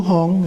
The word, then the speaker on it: Hung: Hung in Tibetan is pronounced Hung, H-U-N-G. In Sanskrit it's Hum, H-U-M.